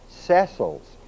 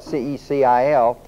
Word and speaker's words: Cecil: Cecil Rhodes set up a secret society financed by the Cecils. Now, if you'll notice his name is spelled C-E-C-I-L. Most people pronounce it Cecil Rhodes, but it's not. It's Cecil Rhodes.